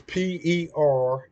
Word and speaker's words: perdition: And if I'm not saying that right, Perdition is Perdition. Perdition, brothers and sisters. That's how you say it.